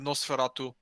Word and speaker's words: NOS4A2: Yeah, Nosferatu. Okay. It it's spelled NOS4A2.